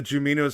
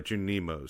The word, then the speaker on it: Junimos: No, they're Junimos. Because I always say Jumino.